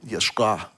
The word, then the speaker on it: Yeshua: Technically, Ayin is a silent letter, as is Aleph. But they will take on sounds, depending on what word they're used in. In this one, Yeshua. And it would be more Yeshua, and I can't do it right.